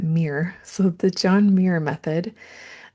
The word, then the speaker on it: Muir: My friend taught me that the John, it looks like Muir, but she said you pronounce it Muir.